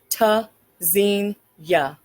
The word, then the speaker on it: Tzynya: pronounced tzenya. Verb from Hebrew meaning to listen for hear spelled t z y n y a. The first letter T is a stop. Disrupts airflow.